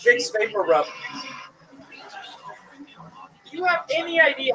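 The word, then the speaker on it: Vicks VapoRub: I moved here to realize that big buru is actually pronounced big vapor rub. You have any idea how many CVS I went to asking for big bakaroo?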